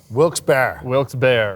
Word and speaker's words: Wilkes-Barre: Yeah, so you were up in, I'm going to pronounce it wrong, Wilkes-Barre? Wilkes-Barre.